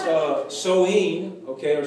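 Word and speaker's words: Samhain: to these type of celebrations okay uh it's pronounced uh soheen okay or Sam high in his way it looks but it's pronounced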